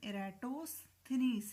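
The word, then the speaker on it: Eratosthenes: सबसे पहले ये जो नाम था ज्योग्राफी या जोग्राफिया, ये इराटोस्थनीज ने यूज़ किया था। इराटोस्थनीज, ठीक है, तो इसका प्रोनाउंसिएशन इराटोस्थनीज है, ठीक है।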